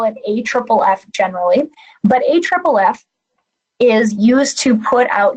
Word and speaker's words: AFFF: forming foam [AFFF - pronounced A triple F], which is quite a mouthful. I will probably call it AFFF generally. But AFFF is used to put